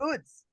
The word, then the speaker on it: oud: mys Israel I met this guy who made oods oh yeah made what what what's that word